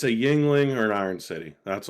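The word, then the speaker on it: Yuengling: See, I can't drink Yingling. They're too heavy. It's like a 12-course meal. I want to drink. It's like you're having some wings. Yeah, that's it rhymes with wings.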